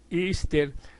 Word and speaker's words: Easter: Pascua de resurrección y que se pronuncia ister se remonta a la